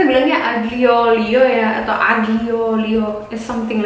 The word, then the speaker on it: aglio olio: Ini adalah aglio olio.